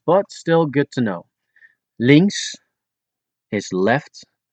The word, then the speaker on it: links: Links is left. It's spelled L I N Ks, but you don't pronounce the K.